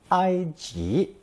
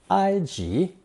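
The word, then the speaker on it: 埃及: it to transliterate the country name for Egypt IG if IG doesn't sound very much like the English pronunciation Egypt that's because the Chinese version is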